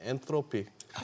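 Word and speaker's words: Anthropic: 저게 아까 우리 임선우 캐스터가 정확하게 발음하더만 엔트로픽 그렇죠. 그렇죠. 번데기 발음. 아, 가운데. 네, TH 번데기 발음.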